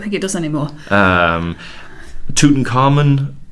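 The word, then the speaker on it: Tutankhamun: it does anymore um tootin carmen tutankhamoon i guess it's i cite well i put men on the end because i use amen for the god and i use amenhotep and i try to be consistent but again a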